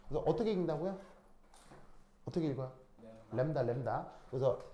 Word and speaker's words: 람다: 어떻게 읽는다고 어떻게 읽어요 람다 람다 그래서 그 읽을 때 램브 다거 발음으로 쓰자면 그래서 램브 다인데 이제 이게 자음이 두 개니까 이제 약하게 발음해서 램다 이렇게 표현을 하는 거죠 그 정확하게 램브 다가